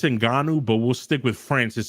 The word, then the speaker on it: Ngannou: How do you pronounce the CEO? It's Ngannou, but we'll stick with Francis so we don't trigger Brandon.